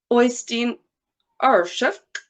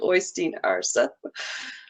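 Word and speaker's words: Øystein Aarseth: Oystein Arshuk. No. It's different than it's spelled, but it looks like it's spelled Oystein Arsa.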